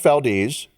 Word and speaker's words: Valdez: Valdes right okay and it is pronounced Valdes but it is spelled Valdez right okay and I